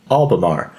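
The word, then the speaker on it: Albemarle: Um, so I looked up the pronunciation and we're going with Albamar here in the South Park Metro Complex just south of the Charlotte downtown in North Carolina.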